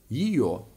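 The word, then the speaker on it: её: A mówiliśmy o tym, że litera je i ja traci drugą połowę swojego dźwięku, kiedy nie jest akcentowana. Gdy chcemy powiedzieć jej, na przykład jej kolega czy jej koleżanka, mamy do czynienia z takim słowem. A więc trochę dziwnym. Czytamy jio.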